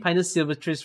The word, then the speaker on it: Pinus sylvestris: Oh my god, this makes me realize I might have been pronouncing Pinus Sylvestris wrongly. It's apparently Pinus Sylvestris. I seem to have always made S silent.